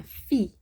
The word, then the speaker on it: fil: Le petit chat, okay, qui se fait brûler par le fil des lumières du sapin de Noël.